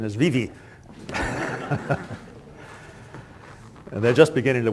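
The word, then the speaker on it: Vevay: couple of years ago and discovered the local pronunciation is Vivi and they're just beginning to wake up to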